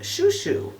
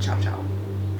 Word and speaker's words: Chou Chou: The Viseart Chou Chou, and thank you to Jocelyn for telling me that it's not pronounced Chow Chow.